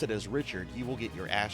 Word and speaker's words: Richard: So this word right here, this name Richard. Okay, anybody that speaks English would pronounce that as Richard, right? It's not how you pronounce that in South Louisiana. You pronounce that as Rishard. And if you pronounce it as Richard, uh if somebody has